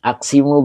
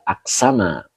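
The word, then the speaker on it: أقسم: Bang Bus, aksimu bila, oh bukan aksimu Kang, tetapi bacanya adalah aksama.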